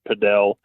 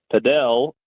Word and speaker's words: padel: has actually came out and said you should pronounce padel because uh there's another sport called platform tennis